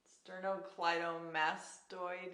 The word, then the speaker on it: sternocleidomastoid: and down down that sternocleidomast how is it pronounced sternocleidomastoid yes that muscle I do have a background